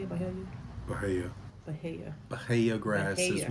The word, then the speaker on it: Bahia: Bahia.